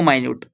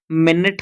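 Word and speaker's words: minute: माइनट का दो अर्थ है। एक आपका होता है मिनट। हम कहते हैं ना मिनट कहते हैं और एक को हम कहते हैं माइन्यूट। ठीक है? एक ही स्पेलिंग का है बट डिफरेंट प्रोनाउंसिएशन है।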